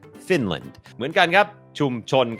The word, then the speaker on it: Finland: เสียง ฟินแลนด์ อ่าน ว่า Finland Finland โอเค อัน นี้ บ่ง บอก ว่า อ่า จำ ได้ มย อัน นี้ ก็ เน้น พยางค์ ขึ้น สูง fin พยางค์ ไม่ เน้น land Finland Finland เหมือน กัน ครับ ชุม